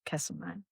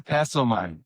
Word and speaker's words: Castlemaine: We don't pronounce it Castlemaine. It's Castlemaine. Castlemaine. There is no r in Castlemaine.